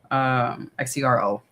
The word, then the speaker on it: Xero: Now I wear Zero shoes. They're spelled with an X, Xer, zero shoes. Xero, zero shoes.